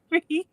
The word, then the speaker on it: Charrisse: We do recognize that those profiles, just because you turned the S into a Z, it's still pronounced Charisse.